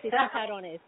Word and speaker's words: chicharrones: Yes, chicharrones.